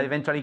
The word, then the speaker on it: eventually: eventually I eventually I eventually gave in. Eventually I gave up. Okay. Okay. Okay. Yeah? Eventually I I gave up or I eventually gave up. Don't forget to pronounce eventually with a cha.